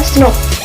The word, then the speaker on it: snRNP: Intron dihapus dari pra-mRNA oleh small nuclear ribonukleoprotein atau snRNPS, diucapkan SNP.